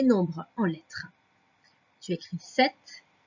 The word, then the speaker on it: sept: 7, je te rappelle qu'il y a un P qui est muet dans 7.